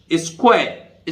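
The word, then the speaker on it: square: स्क्वायर, स्क्वायर, स्क्वायर, मतलब देख स्क्वायर में आर ई, वैसे भी ई का उच्चारण नहीं होता, आर नहीं बोल रहा हूं तो स्क्वायर, ठीक है।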